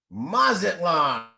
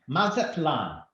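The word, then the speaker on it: Mazatlán: Mazatlan. Okay, no, hold on. You got to say it right. Mazatlan.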